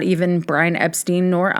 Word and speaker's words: Epstein: So Brian's last name is pronounced Epstein, not Epstein. Publicly, as in the press, particularly in the US, Brian's last name was pronounced as Epstein due to understanding that to be the more common American pronunciation.